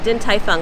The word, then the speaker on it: Din Tai Fung: at din tai fung did i pronounce it right correct yep din tai fung also known as dtf